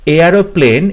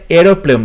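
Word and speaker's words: aeroplane: যখন এরোপ্লেন বানান বলছি তখন কিন্তু AIR অর্থাৎ এয়ার, এয়ারোপ্লেন, এই এয়ারোপ্লেন এগুলো হবে না, কারণ এখানে এয়ার বলা হচ্ছে না, এরোপ্লেন বলা হচ্ছে।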